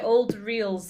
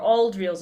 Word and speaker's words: Auld Reels: My first choice was Old Reels, or Auld Reels, I should probably say it properly, by Amy Lawrenson, who's a pianist based in Glasgow, but she's from Shetland originally.